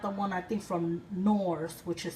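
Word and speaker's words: Knorr: and they got the one I think from nors which is spelled k n o r r and it's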